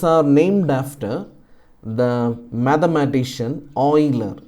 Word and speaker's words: Euler: quantity and these are named after the mathematician oiler e UL e r is the spelling but you had to pronounce oh i l e r so L